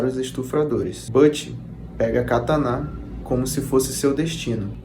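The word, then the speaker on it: katana: japoneses criaram a espada katan que nós pronunciamos comumente Como catana podendo ser segurada com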